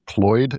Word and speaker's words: CLOiD: One that stood out, I think, to us and to other people is LG's, I guess it's pronounced Cloyd, CLOID robot helper.